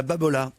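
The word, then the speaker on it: Babolat: Il me semble qu'il y a un R ou un L à la fin, non? Non, c'est Babola.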